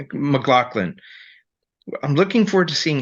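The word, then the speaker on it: MacLachlan: McLaughlin. McLaughlin.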